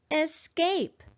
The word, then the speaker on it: escape: on the first syllable escape i notice when i say that word that the second syllable is higher and louder and longer than the first syllable also there's a